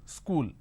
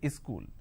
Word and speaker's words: school: e in front so instead of saying school they say is cool something like this happens